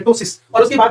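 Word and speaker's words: ptosis: आएगा इसमें टसिस होगा ये प्टोसिस नहीं है पी साइलेंट टसिस और उसके बाद में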